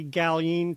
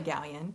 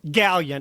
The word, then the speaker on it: Galyean: So, I want to just welcome Gallin to the podcast. I should have asked you before we started recording. Is Galin, is that the right pronunciation? Oh, it's Gallion. Gallion.